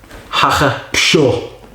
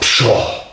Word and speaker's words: Pschorr: And it's called Pschorr. Pschorr. I don't know if you pronounce the P, but I'm going to pronounce it.